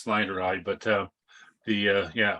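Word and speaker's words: snyderi: we have the snide well however you pronounce pronounced Snyder eye but uh the uh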